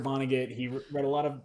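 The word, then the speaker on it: Vonnegut: know like uh Kurt Kurt Vono uh not Van Go. Van Go is an artist. Kurt Vonagget.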